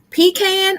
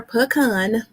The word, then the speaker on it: pecan: my favorite is well i'm going to say it both ways because people pronounce it pecan or pecan now if you make